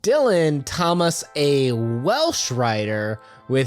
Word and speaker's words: Dylan: his name is Dylan some people out there might be like it's pronounced dullen in Welsh actually he would correct people that he preferred Dylan pronunciation even in interviews